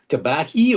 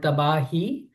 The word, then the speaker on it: Tabahi: How do you pronounce it? Tabahi or? You're actually quite right in pronouncing our band name, which is actually called Tabahi.